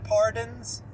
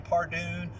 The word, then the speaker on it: Pardon: I went and talked to Madison Pardon's parents, her dad. Now, of course, they pronounce their last name Pardoon, but I pronounce it Pardon because it's funnier that way.